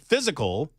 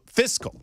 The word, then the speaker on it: fiscal: you get physical yeah so fiscal is that better fiscal fiscal F not Fizz fist yeah F okay